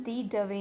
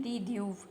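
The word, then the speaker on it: de Duve: और लाइसोजोम की खोज की है क्रिश्चियन डी डवे ने या क्रिश्चियन डी ड्यूव जो भी आप प्रोनाउंस करना चाहो।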